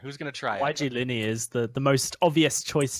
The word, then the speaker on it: Yglini: Yglini, kind of like I said, kind of an Italian pronunciation.